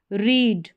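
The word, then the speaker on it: read: Spelling same है। उच्चारण different है।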